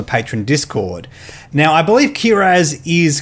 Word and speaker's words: Kihraxz: It says Kihraxz. You don't pronounce the X for some reason, but there's an X in there.